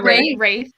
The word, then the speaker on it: Wraith: The Wraith. Wraith. Okay. Yeah. The W does not exist.